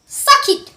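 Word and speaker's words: circuit: এস আই এন সি ইউ আই ন সারকিট সাকি সাকি আরটা সলেন্ট থাকবে সাকি মানে হচ্ছে বর্তনী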